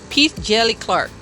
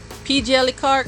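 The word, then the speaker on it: P. Djèlí Clark: I'm going to go like DJango style when they like the D is silent. So, okay. P Jelly Jelly P Jelly Clark. P Jelly Clark or P the Jelly Clark.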